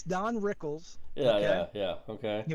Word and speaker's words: Rickles: can't I can't say it right it's it's Don Rickles yeah yeah yeah okay he was born in